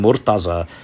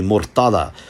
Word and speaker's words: Morteza: own name you know saying murtaza or something like that when really it's supposed to be murtada but in a charmingly